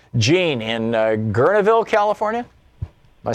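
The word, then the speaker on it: Guerneville: Gene in Gurneville, California.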